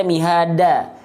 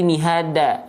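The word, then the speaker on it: مِهَادًا: Oke, jadi bukan dibaca mihada, tapi mihada.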